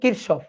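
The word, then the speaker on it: Kirchhoff: ল কারসফ কারশ current law current law এর উচ্চারণটা হচ্ছে কিরশফ অনেক সময় কেউ কেউ কিশপ বলে কথা একই ঠিক আছে কারফ কিশব একই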